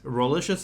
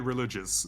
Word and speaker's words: Rolicious: His name rhymes with nutritious and delicious. It's Rolicious. Welcome to the show, Roli. And don't forget Rolicious, that too.